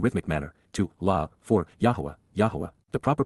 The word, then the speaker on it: Yahowah: a melodic and rhythmic manner, to, La, for, Yahowah, the proper pronunciation of the name of Eloah, God as